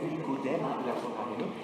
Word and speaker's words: Nicodème: qui sont Nicodème, d'un côté, comme ça se prononce, Nicodème, et Joseph d'Arimathie, A-R-I-M-A-T-H-I-E, toujours selon les évangiles.